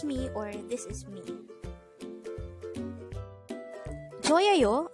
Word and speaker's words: 저예요: 저예요 could be divided into 3 syllables. 저예요. 저 is formed from the combination of the sounds 지읒 and o, while 예 is just the sound of 예 itself with a no sound iyong or a placeholder iyong on the first part of the syllable.